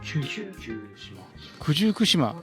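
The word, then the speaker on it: 九十九島: 九十九島と読むそうです。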